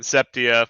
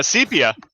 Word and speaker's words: sepia: uh building shots and septia which apparently is pronounced uh sepia i just found out